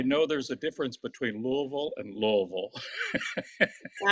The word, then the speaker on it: Louisville: How do you pronounce L O UI V I L E? It's Louisville.